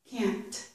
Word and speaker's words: can't: So in that time I pronounced the T, didn't I? Can't. It's because I was emphasizing it.